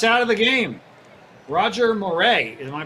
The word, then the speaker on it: Moret: that's it theon's out of the game roger moray am i pronouncing that correctly dan moray correct roger moret roger moret is in the